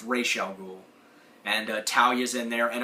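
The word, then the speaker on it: Ra's al Ghul: Strange and uh you've got R alul not Raz alul re Al it's pronounced Rell ghoul and talia's in there and of course you've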